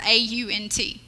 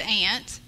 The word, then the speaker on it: aunt: in our group about how to pronounce the word the word a UNT and I I think it was I think it was Lisa said aunt and honey said aunt and I said ain't I'm born and raised here